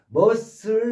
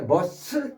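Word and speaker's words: muscle: 머슬의 여쓰는 발음이 안 되는데 머스큘러라는 근육의라는 머스큘러 머스큘러라는 형용사가 있습니다. 근육 응 근육 형용사 그때는 C가 발음이 되죠. 머스큘러 머스큘러 근데 머쓸 때는 발음이 안 되고 이때 폼은 단단한 굳은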